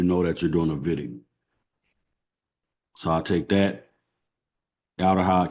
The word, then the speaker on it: Wittig: I know it's spelled with a W, but it's a German word, so you pronounce it with a V. So Wittig, right?